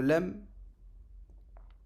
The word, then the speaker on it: ل: Donc le lem, il a la même prononciation que le le ou le l en français.